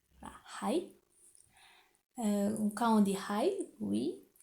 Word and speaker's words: はい: Donc en japonais, on prononce bien H. Hai.